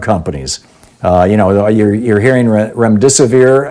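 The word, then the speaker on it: remdesivir: you know you're hearing REM disappear I believe is how it's pronounced might shorten the course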